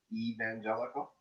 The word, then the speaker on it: evangelical: of um pronunciation notes you said evangelical it's e evangelical evangelical evangelical evangelical evangelical okay and i think this